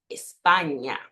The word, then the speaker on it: España: La letra ñ es el sonido de ña, ña, ña. Así que la pronunciación de la primera palabra es España, España.